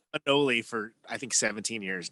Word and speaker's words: Monoli: I've been mispronouncing that for like 18 years. Oh yeah, Mona Lee. It's a Spanish translation of monolith, which is the town that I was born in. I've been saying Manoli for I think 17 years now.